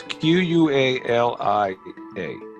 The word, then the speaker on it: qualia: you spell it walia qualia like quality but instead of ipy it's just a quality it's q-u-a-l-i-a qualia that sounds you